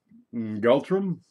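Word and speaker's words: ngultrum: Gultrum? Yeah, that's how you pronounce it technically.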